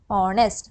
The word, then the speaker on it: honest: I told you that though it begins with a consonant letter, the pronunciation begins with a vowel sound. We begin it with O, honest.